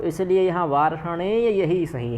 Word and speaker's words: वार्ष्णेय: ठीक, वार्ष्णेय में कोई विसर्ग नहीं है, या का पूर्ण उच्चारण करना है।